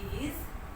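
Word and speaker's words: aisle: The S will be silent.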